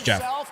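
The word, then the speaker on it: Geoff: spell his name guys it's not Jeff like that Mr Miyazaki his name is spelled g b o f f like kind of like Joff I guess but it's Jeff yeah yeah that's a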